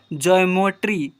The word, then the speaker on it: geometry: Example पर GEOMETRY जीमोट्री की जीमेट्री, देखिए ज्योमेट्री, ज्योमेट्री, ऐसे पढ़ेंगे, ठीक है।